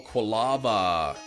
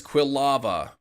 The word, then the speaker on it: Quilava: you about the whole quava well the book says Quilava that's what the book